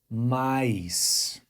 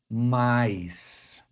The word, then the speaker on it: mais: pronounce the Brazilian Portuguese word m the correct pronunciation is M once again mice but here's a fun fact in Brazil mice